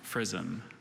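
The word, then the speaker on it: frizzen: of unknown origin okay prison there's any other pronunciations just the one frisom prison may have the old the information prison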